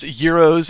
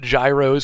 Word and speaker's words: gyros: Tell the world it is pronounced gyros and not gyros, for God's sake.